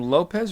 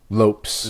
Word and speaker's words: Lopes: to the featherweight division I say his name Lopez or Lopes remind me Lopes Lopes in his Lopes